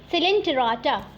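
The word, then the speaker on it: Coelenterata: देखो क्या होता है, सबसे पहले होगा फाइलम पॉरीफेरा, सिलेंटेराटा, ओ साइलेंट है, टेनोफोरा, प्लैटीहेलमिन्थिस, एस्केलेमिन्थिस, ठीक है, Annelida, arthropoda, Mollusca, Echinodermata, हेमिकॉर्डाटा, last में कॉर्डाटा।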